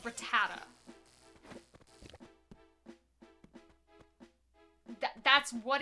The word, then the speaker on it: Rattata: I I know as a as a kid I always called it Ratat. There's not a T at the end, but I always called it Ratat. And so I I just keep calling it Ratat.